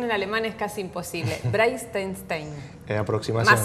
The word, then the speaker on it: Breitenstein: Breitensteine. En aproximación. Más o menos. A ver, decilo vos bien, así no me quedo con la cargo de conciencia. Breitensteine.